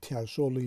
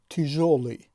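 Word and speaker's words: тяжёлый: در این کلمه زده در هیجای دوم افتاده است، به همین خاطر هم این هیجا بلندتر تلفظ می شود و این کلمه تلفظش مثلا تیاژولی نیست بلکه تیژولی.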